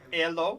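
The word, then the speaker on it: Helô: what the name is i need a a pronunciation lesson h-e-l-o hello and hello ello hello pinero yes we know that from elo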